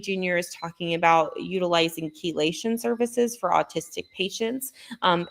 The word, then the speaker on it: chelation: Um, and when I say keelation, there's levels to keelation. Um, and chelation is spelled ch h e l a te d. So sometimes you may see it um and mispronounce it.